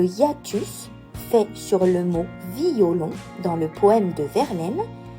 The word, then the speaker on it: violon: la métrique pour résumer si je prends le mot violon et que je souhaite faire une Thérèse sur lui je le prononcerai violon si je souhaite faire une synérèse alors je le prononcerai normalement c'est à dire violon